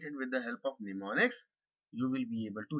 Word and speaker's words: mnemonics: uses some form of mnemonics. Now, what exactly is mnemonics? This is the M is silent.